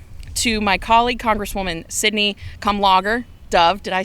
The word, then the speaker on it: Kamlager-Dove: I got to When they said logger like beer, it was sold.